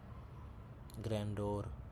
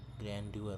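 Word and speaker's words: grandeur: ग्रैंडोर, ग्रैंड्यूअर होगा। ठीक है, पहले तो दोनों गलत है। ग्रैंड्यूअर, ग्रैंड्यूअर होता है। ग्रैंड्यूअर सही है, ग्रैंड्यूअर होता है।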